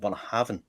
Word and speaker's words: Bunnahabhain: But I went through so many permutations and variations of Bunnahabhain, Bunnahabhain. And I was like, no, it's pronounced Bunnahabhain.